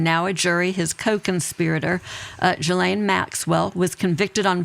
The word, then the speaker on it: Ghislaine: So it's French. It is Ghislaine. Ghislaine with a hard G. I think if you were really trying to speak it in French, it would be Ghislaine, but I think just saying Ghislaine for our purposes is fine.